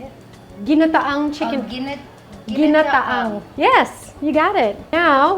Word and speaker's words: Ginataang: Ginataang.